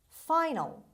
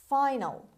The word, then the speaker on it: final: voge word number nine final final final a in the end of the word before l is pronounced as schwa final finale final the